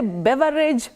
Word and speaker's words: beverage: So do we say beverage, beverage? How do we go about that one? Which is which? Beaver, no. Bever, yes.